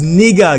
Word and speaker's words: Niger: This is the river Niger is speaking of, but the accurate pronunciation of this word is Niger, guys.